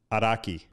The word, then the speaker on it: Araki: Araki. I am shocked with the perfect Japanese pronunciation.